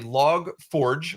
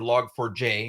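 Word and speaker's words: Log4j: entry point was a log Forge or log for J if you've read it out phonetically right attack that was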